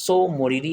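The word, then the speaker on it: Tso Moriri: Next প্রশ্ন বলেছে লাদাখ অঞ্চলে অবস্থিত তাসো মরিরি আসলে কি? তাসো মরিরি বা সো মরিরি আসলে কি? ঠিকটা সাইলেন্ট থাকে যদিও।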